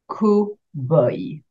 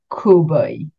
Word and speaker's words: cowboy: This type of suit will be la tenue de cowboy. Again, we've taken an English word and we pronounce it the French way. La tenue de cowboy.